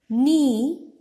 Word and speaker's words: knee: Knee. K is silent in the beginning, initial position.